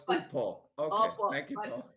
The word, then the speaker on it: upo: So it's upo. Okay. Opo. Thank you, Paul. But if it's a vegetable, it's upo. That's how you pronounce it.